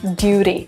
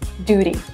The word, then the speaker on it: duty: Oh, it's this is where T becomes R, like duty, duty. Ah, it's the flap T, duty, duty, duty, yeah.